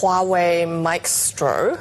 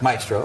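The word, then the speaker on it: Maextro: So, I think it's pronounced Huawei Mestro. Maestro, which is a play on the word maestro with an X.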